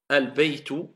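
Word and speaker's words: البيت: le L, car le L s'est transformé en prononciation en la lettre qui suit. C'est pour cela qu'elle est doublée shedda. Al-baytu qamariya, at-tinu shamsiya.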